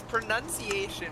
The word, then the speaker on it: pronunciation: was so confident yes it's pronunciation with an n-u-n as in none not n-o-u-n pronoun oh pronunciation does it